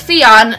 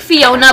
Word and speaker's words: Fion: So her name is Fion. It's kind of like Fiona, but take away the A and it's Fion. F-I-O-N, and that's how you pronounce it.